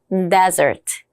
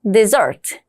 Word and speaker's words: desert: 발음이 다릅니다. 사막일 때는 desert, 버리다일 때는 desert.